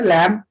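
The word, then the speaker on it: lamb: लैम B silent होगा, यानी एक अगर एम के बाद आता है और टी से मतलब पहले आता है तो बी साइलेंट हो जाएगा, लैम्प, थम, डेट और बॉम्ब।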